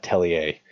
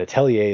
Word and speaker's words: Atelier: good stuff which had telly a and Atelier is a French word it's spelled a te l IE r you can read this